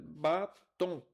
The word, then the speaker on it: batom: A palavra é oxítona, pois a última sílaba é pronunciada com maior intensidade. Batom. Certo. Então, tom é a palavra com a sílaba tônica.